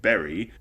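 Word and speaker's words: Beli: their currency which is spelled b-e-l-i and pronounced berry as far as i'm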